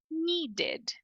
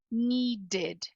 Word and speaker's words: needed: enxerga um e Então essa é a mais fácil de pronunciar a partir da escrita ó needed é isso é muito próximo do que tá escrito né needed needed perfeito decided decided